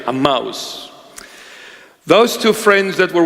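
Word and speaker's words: Emmaus: were walking to aous a that's a proper pronunciation a mouse those two friends that were walking one of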